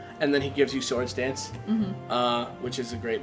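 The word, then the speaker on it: Swords Dance: a black belt dude Who Says sewards dance he's like swards dance like swards cuz he's pronouncing it wrong and then he gives you sword dance uh which is a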